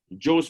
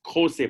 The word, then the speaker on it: Jose: Arunabh Singh, Director, Nehru World School, Joe's Papa, but a lot of Indians are watching Spanish web series on Netflix, and they now know that they are pronounced Jose Papa.